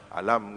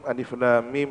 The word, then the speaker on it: Alif Lam Mim: Kalau orang tidak memahami cara membacanya, ya dibaca alam gitu, ya. Asaqo gitu. Ini menunjukkan bahwa dia tidak melalui keilmuan yang memadai. Bismillahirrahmanirrahim. Alif Lam Mim.